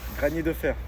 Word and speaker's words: Granier Deferre: Granier Deferre.